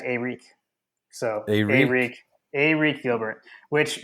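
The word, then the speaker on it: Arik: from LSU's pronunciation guide they said like it was just Eric but it is in fact AEK so a a Gilbert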